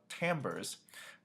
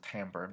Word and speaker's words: timbre: John Williams with Imperial March focusing on the Timbers so that might be a foreign word by the way that's how you pronounce it Tambor not timber timbres Williams uses to present and